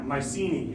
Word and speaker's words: Mycenae: Like Mycenae. Yeah, Mycenae is how we say it. But yes, I can tell you say Yeah. Mycenae.